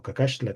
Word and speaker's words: Cacaxtla: ciudad precisamente ahí en Cacaxtla, o Cacaxtla, que sería la pronunciación correcta.